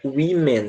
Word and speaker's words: women: Você não deve falar woman ou qualquer coisa do tipo, é women mesmo, tá? Como se fosse um I.